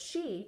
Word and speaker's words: chi: didn't even know what it was the word chi is pronounced Chi and it's Chinese for life force